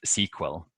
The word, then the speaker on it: SQL: analyzing data bases is abbreviation SQL but it's pronounced sequel and it stands for